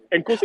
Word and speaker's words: Nkosi: But you're Thank you. supposed to have a click. Here you go, Nkosi.